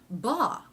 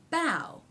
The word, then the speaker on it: bough: final t bot becomes ba but it doesn't it's not pronounced ba it's pronounced bow okay so the ah